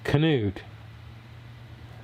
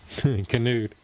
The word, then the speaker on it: Canute: Canute. I got it. YouTube's over here teaching me how to pronounce Canute. Yeah, you're right. Still look like nut to me. Canut. Canute.